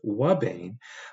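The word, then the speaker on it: ouabain: under experimental conditions a compound referred to and pronounced as Wane uh is a specific inhibitor of the protein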